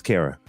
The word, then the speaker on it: Kara: Her name rhymes with Sarah. Her name is Kara.